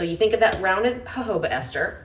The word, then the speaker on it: jojoba: This has a rounded jojoba ester. So jojoba is that stuff that's spelled jojoba, okay, that y'all all say wrong, but it's a little